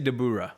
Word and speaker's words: Dabura: So Dabura. I can never say it like they do in the show. In the show, they say Dabura, right?